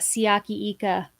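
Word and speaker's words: Siaki Ika: love this pick by the Browns they got ciaki Ika did I pronounce it wrong I was just gonna look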